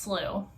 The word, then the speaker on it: slough: now because I've been meaning to oh it's pronounced slooh cool in California and they like the body